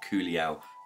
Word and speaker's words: Culiau: For the purposes of today's, I'm only using what has been sent to me by Culiau, which is how you say the company's name, Culiau. This is the Culiau Customizer.